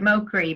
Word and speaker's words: Mokry: that for us because we're pronouncing it mo cree but it's m-o-k-r-y correct yes so shaman s-h-a-n-n-o-n